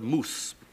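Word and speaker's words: mūs: o u s e we do know that the Anglo-Saxons pronounce that word moose because of the way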